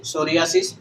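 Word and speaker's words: psoriasis: अब देखो सोरियासिस हो, अच्छा है, ये लास्ट के तीनों वर्ड देखो, साइकोलॉजी, सोरियासिस और साइकियाट्री, इनमें से क्या है? ये पी, हर जगह पी क्या है? साइलेंट है भाई, पी साइलेंट है।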